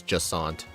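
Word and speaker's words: Jacinthe: It's Jasant. It rhymes with croissant.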